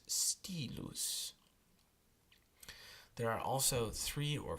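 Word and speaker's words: stylus: in the letter y y is pronounced just like a long I so the word pronoun that is spelled st yl us is Ste loose there are also three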